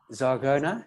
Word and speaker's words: Zagona: your name correctly is it's zagona is that correct have I got it correct ah yes you got